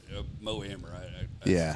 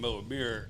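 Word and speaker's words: Mo Amer: and mo Amir back when it was wow Mo ammer I screw the pronunciation of it it's all right which is weird cuz back then we all called him moir everybody called him that and now like were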